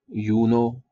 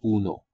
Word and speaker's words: Uno: तो कुछ लोग इस आर्डुइनो ऊनो को बोलते हैं यूनो, कुछ इसको यूएनओ बोलते हैं, बट the correct pronunciation is आर्डुइनो ऊनो, ऊनो OONO।